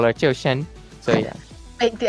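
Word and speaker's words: Zhuxin: It's Chiu-Shen. It's exactly Chiu-Shen. Yeah, but obviously not. I mean, for a non-Chinese person, it's really hard to say her name. So most people just call it Zhu Xin, like really easy. But it's supposed to be Chiu-Shen.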